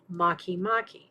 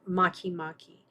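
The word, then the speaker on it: Makemake: with the dwarf planet Maki-Maki. Now, it's spelled make-make, but it's pronounced Maki-Maki.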